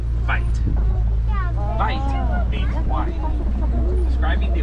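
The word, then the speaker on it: wyd: That name comes from the mispronunciation of the old Afrikaans word, bite.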